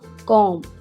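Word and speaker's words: comb: कंघी करना कॉम इसके स्पेलिंग्स हैं सी ओ एम बी। इसमें बी साइलेंट है। इसको पढ़ेंगे कॉमब।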